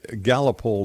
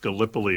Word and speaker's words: Gallipoli: What was the Gallipoli disappearance that I'm reading about here?